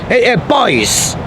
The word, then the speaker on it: buey: Boys. People spell it B-U-E-Y sometimes. So, it's not a boy like a little kid, or just a girl or a boy.